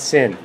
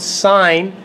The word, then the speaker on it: sin: when they see this they want to pronounce that sign not sin okay please please please do not say sin when you go into grade 11 tell you Mr Mills taught me it's sign not sin okay the